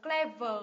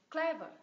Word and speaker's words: clever: gì clever đúng không thay vì mình đọc là clever mình đọc là clever nhấm tiết thứ nhất ạ clever Ok C